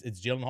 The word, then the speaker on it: Gyllenhaal: People are like, yeah, it's Gyllenhaal. His It's name's actually, Sam. Yeah. It's John Smith. No, John I Smith. think it's Gyllenhaal or something like that.